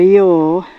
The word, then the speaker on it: Ure: up flowing into the river Y which is spelled u r e it's always quite funny